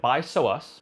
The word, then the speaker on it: Bisous: of the sunglass company i believe you pronounce it by so us b-i-s-o-u and they have many